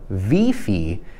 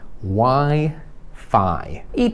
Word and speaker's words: Wi-Fi: z innego kraju i byś powiedział wi-fi A to myślę żeby nie wiedzieli co to jest to po angielsku co się wymawia i tutaj się wymawia literę i jako i Why I to wszystko na dzisiaj